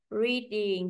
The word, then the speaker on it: reading: từ cao xuống thấp reading chúng ta cũng đi từ thên cao đi xuống thấp đúng không solving solving